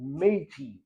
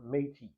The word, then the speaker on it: Métis: Canada, you're either non-Indian or non-native, or you're native, or you're something called Métis, which is spelled m e t i s.